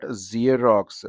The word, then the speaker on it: Xerox: Uh mix and box, but Xerox. You have the sound of z.